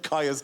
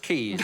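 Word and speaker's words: Caius: Oh, are you also the head of Kaya's College or whatever? I think you'll find it's pronounced Keys.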